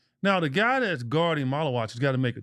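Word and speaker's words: Maluach: That's how you pronounce his name? Malawak, right?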